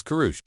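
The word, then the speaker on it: kuruş: The kurush, pronounced as kurush, has its origins in the Ottoman Empire.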